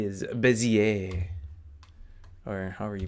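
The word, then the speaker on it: Bézier: select and B is bezier or however you pronounce that I believe it's bezier it's probably a French word because leave it to the French to have goofy words coming from someone who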